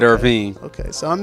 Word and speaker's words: Irvine: It's not wrong because half of his family does say Irvine, Wow. but he said Irvine.